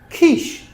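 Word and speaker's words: quiche: And here are some words that have a ch but shh sound. So they're spelled ch, but we pronounce them shh. Okay. Chef, chalet, machine, brochure, parachute, chaperon, chandelier, crochet, kiche.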